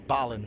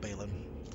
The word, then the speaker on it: Balin: stay where he is or Ballin not Balin Ballin that's how you say it Ballin barlin Balin